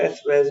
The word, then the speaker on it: assuage: इसके प्रोनाउंसिएशन पे ध्यान दीजिएगा, assuage है।